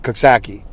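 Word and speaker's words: Coxsackie: the the the kaksakians they like to pronounce it kasaki but i say kaksaki no no i'm not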